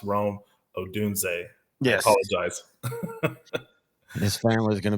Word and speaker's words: Rome Odunze: the Washington Huskies receiver his name is pronounced Rome odunze yes apologize this family's